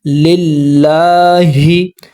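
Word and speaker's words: لِلّٰهِ: लाम को जब लाम से मिलाया तो जमा सख्ती हुआ। पहले रूल पढ़ा है हमने। लाम के ऊपर खड़ा ज़बर है। इसको हमने दो हरकात के बराबर खींचना है। रूल पढ़ा है हमने। लिल्लाह।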